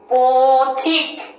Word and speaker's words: পথিক: এর কারণে আমরা পথিক না বলে উচ্চারণটা, আমাদের সঠিক উচ্চারণটা কি করি আমরা? পথিক।